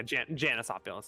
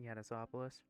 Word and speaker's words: Janisopoulos: yeah, Janisopoulos because it's not. It's the J isn't the Swedish J. It's the Greek J. They pronounce it Yanisopoulos.